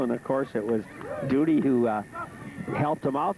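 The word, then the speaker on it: Dody: Now, let's see what Duty Doughty or Duty Duty, D O D Y.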